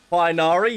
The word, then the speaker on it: Tighnari: Tighnari, yes, that's how we pronounce it.